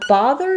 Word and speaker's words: bother: So bother is a little bit confusing to people because we do have the word both that has the O sound. But in bother, we have the ah sound, like father. So the IPA, you're going to see this symbol for that ah, and it has first syllable stress. So no rounding. I don't want any O or ah sound there. Think about it like ba.